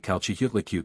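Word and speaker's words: Chalchiuhtlicue: Yutzilopotli equals Witzilopochtli, Tezcatlipoca equals Tezcatlipoca, Quetzalcoatl equals Quetzalcoatl, Zype equals Xipe, Calchihutlicute equals Chalchihuitliquai. Most of the others are comparatively simple of pronunciation.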